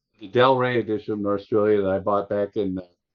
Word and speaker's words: Norstrilia: I already had the Del Rey edition of Norstrilia that I bought back in 1975 when it first came out.